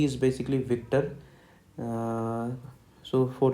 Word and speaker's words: Victor: So for letter V, basically the word is Victor, but in phonetics its spelling is VIK. I am underlining this, that means emphasize on this, TAH. So how is it pronounced in phonetics? Victor, Victor, Victor.